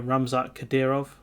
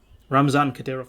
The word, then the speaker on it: Ramzan Kadyrov: um this gentleman here ramzak khadirov ramzan khadirov ramzan kadyrov that's how you pronounce it so this this